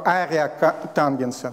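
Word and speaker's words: ареатангенс: Это на самом деле ветвь так называемого ария тангенса. Там арк нет, там ария тангенс, он так произносится.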